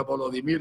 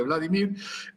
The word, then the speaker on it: Volodymyr: Dicho eso, y aunque ahora Vladimir Zelensky, que se llama igual que Putin, por cierto, nada más que en ucraniano se pronuncia Volodymyr en lugar de Vladimir, si ahora ya lo acepta, pues a lo mejor hasta acepta un alto el fuego.